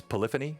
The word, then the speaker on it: Polyphony: his link tree and am I pronouncing it correctly it's polyphony is that right yes you got that right okay so um you